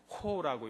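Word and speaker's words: ὁ: 읽을 때는 호라고 읽습니다.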